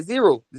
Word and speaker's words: Zereaux: Yeah, zero. Yeah. It's like the number, but you just spell it that way.